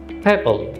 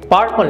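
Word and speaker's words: purple: আমরা শিখেছি আর এর পর যদি কনসোনেন্ট থাকে সেক্ষেত্রে আমরা আর কে উচ্চারণ করব না, সেক্ষেত্রে এটা উচ্চারণ হবে প্যাপল। পার্পল না, এটা উচ্চারণ হবে প্যাপল প্যাপল।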